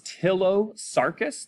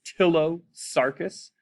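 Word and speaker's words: Ptilosarcus: the genus name is tillo sarkis the p is silent so it's tillo sarkis and the species name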